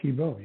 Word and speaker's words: Thebeau: both the first and the last name absolutely TBO you absolutely nailed it thanks for having me